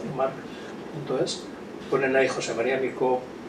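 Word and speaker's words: March: la Fundación Juan Marc, marc.es, Marc con CH, pero lo pronuncio como en valenciano, marc.es.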